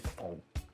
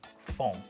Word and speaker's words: fond: Scrape all that wonderful fond off of there. Brown yummy stuff. I don't think the French pronounce the D. It's probably foam. Foam. Or something like that.